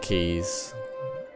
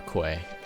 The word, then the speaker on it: quay: So the first thing I'm gonna do is I'm gonna put down these keys. That's the correct pronunciation, a key, not a quay.